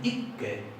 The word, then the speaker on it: ikke: En noruego, esto que está acá se escribe así, pero en noruego tiene las consonantes duplicadas muy enfatizadas, entonces ellos dicen ikke, y hay que pronunciar la doble.